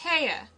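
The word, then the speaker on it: Haigha: happy his name is heyer he pronounced it so as to rhyme with mayor i love my love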